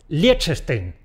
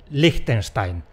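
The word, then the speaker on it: Liechtenstein: Los periodistas deportivos tienen la mala costumbre de convertirlo en , que parece… a mí me parece un cruce entre “leche” y “Frankenstein”. Esto no te lo paso porque ni es español ni es alemán ni es nada.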